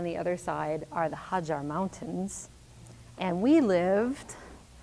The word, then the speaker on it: Hajar: And in Oman, the tribes that live in the mountains pronounce the J as a G. Hagar.